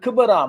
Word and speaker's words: Gqeberha: போட்டியை பற்றி பார்ப்போம் இந்த கிபரா என்ற பெயர் நேற்றைய நாளும் நான் சொல்லியிருந்தேன் அந்த பெயரை விட திருத்தமான உச்சரிப்பு எப்படி இருக்கிறது என்று சொன்னால் அது சொல்லும்போது கபரா என்று சொல்லி சொல்வார்கள் அந்த என்ற சத்தமும் சேர்ந்தே வரும் நான் இதை சொல்லிக் கொண்டிருக்கும்